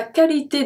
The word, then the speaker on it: qualité: Pour sa qualité de vie. Pour. O, oh, oui, make the sound ou. Sa. Sa. Qualité. Here we pronounce everything beside the U after the Q.